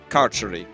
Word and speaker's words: Carceri: So, it is carceri.